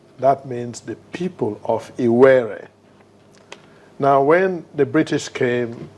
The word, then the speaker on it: Iwere: And the name Warri came to be due to a corruption of the English people who could not properly pronounce the proper name. It is Iwere.